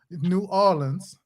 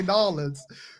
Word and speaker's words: New Orleans: New Orleans. That is the most common way you hear New Orleans. Wallens. For some reason, y'all know this. Y'all think we say Nolans, but y'all not realizing there's a break in between that.